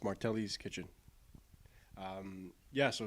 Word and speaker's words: Martelli's: Tell me more about Martel's kitchen. It's pronounced Martelli's Kitchen.